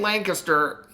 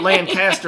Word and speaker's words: Lancaster: She's like, it's not Lancaster, it's Lancaster. Lancaster. I don't know. I can't even say it with my southern accent. They say it with one syllable.